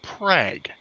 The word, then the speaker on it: Prague: spelt prague oh yeah but do not dare pronounce it prague it's prague yeah yeah kind of